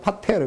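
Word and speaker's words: πατήρ: 오늘 여기서 각 족속이라고 하는 말을 헬라어로 보면은 이 아버지라고 하는 단어하고 발음이 똑같아요. 이 족속 그럼 파트리아, 아버지 그럼 파테르.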